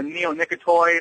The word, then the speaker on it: neonicotinoid: Well, it's actually a neonicotinoid, I believe, is the correct pronunciation.